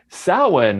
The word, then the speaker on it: Samhain: this word that looks like samhain but it's pronounced samhain of course obviously yes obviously it's one of